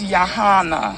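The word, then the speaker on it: Yahanna: first name I didn't catch it I it's yahana Yana is your first name thank you ma'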